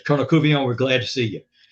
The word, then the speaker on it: Couvillon: And he walked up to me and he says, I says, "Kernel Kuon, we're glad to see you."